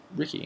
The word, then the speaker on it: Riki: but the way the word is spelled and pronounced in Japanese is Ricky and it's r i Ki which is the